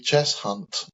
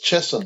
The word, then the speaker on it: Cheshunt: both got to make, really, is the way that you're pronouncing Chess Hunt, because it's not Chess Hunt, it's Cheshunt.